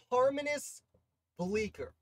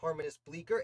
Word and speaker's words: Harmanus Bleecker: harmonist bleaker i think his name is pronounced harmonist bleaker and he's a very